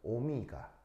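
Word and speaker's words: omega: 옴은 그 사람 이름이고요. 어, 사람 이름이고 어, 제 이름은 오미가 어, 오미가 알겠죠?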